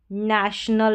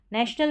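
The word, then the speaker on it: national: तो यहां पर टी को ट या च नहीं पढ़ा जाएगा। नेशनल पढ़ा जाएगा इसको नेशनल। और जैसे मैंने बोला इस तरीके से ओ जब बीच में आता है बड़ी स्पेलिंग्स में जैसे नेशनल में आया है तो इसको अ पढ़ा जाएगा नेशनल यह है पी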